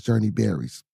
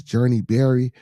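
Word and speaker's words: Journee Barry: As the search continues, the importance of community vigilance is underscored by cases such as Journey Berry's.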